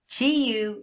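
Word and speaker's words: Qiyu: I don't care that it's Q-I-Y-U. Chi-Yu is how I pronounce that name.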